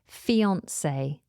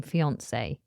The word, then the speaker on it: fiancée: Next on the list is a noun, and it is fiancé. Fiancé. Now, fiancé is spelled Fiancee. But the first E in fiancé has that little accent above it.